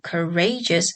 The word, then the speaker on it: courageous: Next, the complex word courageous has a stress on the syllable ray, which is equally applied to the complex word courageously.